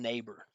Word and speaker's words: neighbor: And the next one, neighbor. B, right? No vowel sound at all.